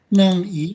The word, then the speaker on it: 南緯: Kalau ini bacanya nangi 南緯、 ya.